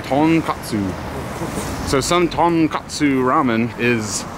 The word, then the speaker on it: tonkotsu: And apparently how do you say it? Takanatsu? Tonkotsu. Tonkotsu? Ton is pork and kotsu is pork. Okay. Tonkotsu.